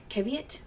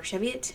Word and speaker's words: Cheviot: I bought a lot of Cheviot, or Cheviot, depending on how you say it, from Heather, and some really beautiful colorways.